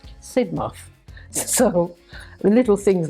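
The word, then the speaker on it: Sidmouth: from Jamaica as a freshman I call it Sid mouth Street and she sort of said to me it's not pronounced Sid mouth it's pronounced sidmov so the little things like that they hope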